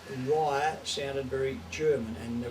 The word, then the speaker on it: Reiher: Yeah, we changed it back from 1980, and it sounds better, it sounds proper. Reiher. We used to get Riga, Rogga, or you No know, one could spell it. no one knew how to